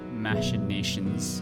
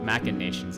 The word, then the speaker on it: machination: for your own machine nations machinations actually you don't pronounce machination like machine but i i spelled